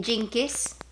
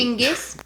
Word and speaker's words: Chinggis: Gengis? Chinggis, I didn't say. Chinggis?